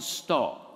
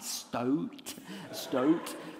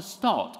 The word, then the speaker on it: Stott: And I didn't know how to pronounce Stott. And I thought it was like Stoat. You mean Dr. Stott?